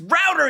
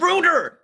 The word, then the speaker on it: router: gonna lose my this pronounced router you dumb brit this guy he keeps pronouncing it runer what's a ruler it doesn't it doesn't root things it routes things it's a rap router